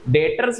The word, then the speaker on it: debtors: B silent है। डेबिटर मत बोलना। इसको डेटर्स बोलते हैं। ठीक है? डेटर्स मतलब कौन?